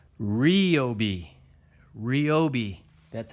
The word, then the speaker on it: Ryobi: in their drill that out and it's not pronounced Ryobi it's Rio be Rio be that's how you pronounce it well